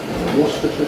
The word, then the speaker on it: Worcestershire: I know how to pronounce it because I'm British. It's Worcestershire sauce.